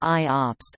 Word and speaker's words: IOPS: Input/output operations per second, pronounced IOPS, a common performance measurement used to benchmark computer storage devices like hard disk drives.